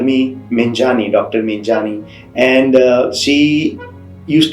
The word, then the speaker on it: Meghani: is my surname and my surname is menghani that is very hard to pronounce for many people many people say mengani megani and she used to